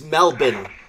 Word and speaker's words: Melbourne: Yeah, it's Melbourne. Melbourne, that's right. For some reason, a lot of names make no sense.